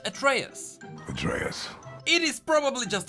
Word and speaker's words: Atreus: name I called him Atreus but that name has origins in the Greek mythos and it should be pronounced at Reyes betrayers it is probably